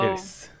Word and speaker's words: Aeris: is Erisu. So Aeris.